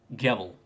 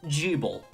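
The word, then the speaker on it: Gebel: everybody called this dude gavel because his name is g-e-b-e-l according to Ritual of the night it is pronounced jibble like gerbil uh that's dumb but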